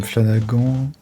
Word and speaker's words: Flanagan: Plein de viewers ont des flancs comme Flanagan. Il y a qu'un seul Flanagan. J'ai un doute sur comment tu prononces le nom de ton flanc, Cyrix. C'est Flanagan ou Flanagan? Flanagan, ok. C'est irlandais.